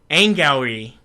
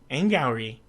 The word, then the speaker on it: Angourie: I actually love Angry Rice because how do you pronounce it? Angourie. Angourie.